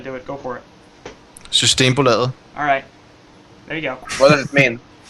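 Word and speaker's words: Systembolaget: because I'm not even going to try to pronounce their team name anymore. Except Root knows how to do it. Go for it. Systembo Laget.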